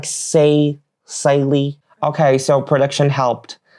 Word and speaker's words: cèilidh: It's like cèilidh. Okay, so production helped. The pronunciation is actually cèilidh and it's Scottish and Irish.